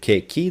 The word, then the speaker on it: chi: Whenever you hear ki, there's an H. Whenever you see an H, it's K.